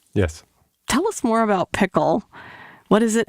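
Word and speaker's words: PICL: So you've developed a machine learning tool called Pickle, which is spelled P-I-C-L, not like the pickle that you put on a burger.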